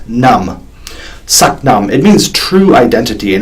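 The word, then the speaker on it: Sat Nam: to be in my mind using the mantra Satnam spelled SAT as in Sat but pronounced such and num n AM but pronounced naam Satnam it means true identity and it's a common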